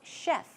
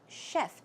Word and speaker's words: chef: chef simple to pronounce chef chef as you would pronounce SH yep chef some other words for